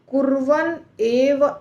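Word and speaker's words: कुर्वन्नेव: आप कर पाएंगे देखिए कुवन एव इह तीन शब्द है कुवन एव यह कुवन का न जो है वह आधा है यानी कि हलंत है उसके अंदर उसके नीचे तो तीनों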